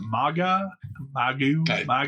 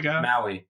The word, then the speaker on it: Maui: Overwatch 2, they announced their next hero is, I think, how do you pronounce that? Maga? Maui.